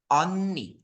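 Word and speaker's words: 언니: Upa Upa Nah kalau yang kakak perempuan itu bacanya Oni lihat mulut sem o-nya dia lebih besar mulutnya on ni Oni oke bisa dipahami ya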